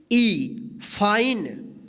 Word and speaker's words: fine: तो आप हमेशा ध्यान रखिएगा, अगर ई से पहले अगर कोई वोवेल आई आता है तो इस आई का आई उच्चारण होगा, लेकिन ई का कोई उच्चारण नहीं होगा।